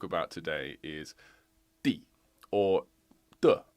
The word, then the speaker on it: 地: today is the or duh actually is how it's pronounced when it's a particle well it's a helper